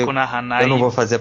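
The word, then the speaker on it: 悪の華: E a deste programa é As Flores do Mal, Akunohana, como é a pronúncia correta japonesa. A gente sempre fala Akunohana, mas o correto é Akunohana.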